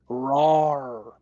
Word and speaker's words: Rawrry: you talking about RAR the way it's spelled is r a w r r y h cuz it's raar like a cat would do now we're getting